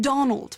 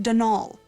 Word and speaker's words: Donal: that was the caretaker denol Delany not Donald mind you there's no D at the end so it's pronounced denal that's the way you're